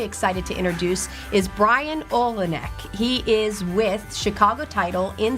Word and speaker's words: Olenik: I was so interested in saying the Olenik, right? Olenik. So I'm going to say that again, or you repeat it for me. You got it right.